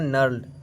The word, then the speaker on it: knurled: दूसरा जो है ये आपका ये है नल्ड, मतलब कि KNURLED, इसको बोलेंगे नर्ल्ड, के साइलेंट रहेगा, स्क्राइबर, ठीक है।